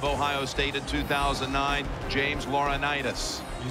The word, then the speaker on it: Laurinaitis: James Laurinaitis.